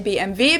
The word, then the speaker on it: BMW: In English, people say BMW. In German, we say BMV because W is pronounced V in German.